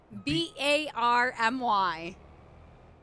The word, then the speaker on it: barmy: do you say it I'm confused what Barney b-a-r-m-y barmy yes instead of saying you're crazy it's